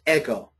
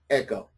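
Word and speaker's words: ἐγώ: And so in the nominative, that word is pronounced ego, ego.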